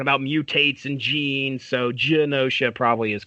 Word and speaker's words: Genosha: with gun OSHA and Genosha so are we going with us is it a soft G yeah is that a soft G that's how I've always pronounced it said Genosha sounds good to me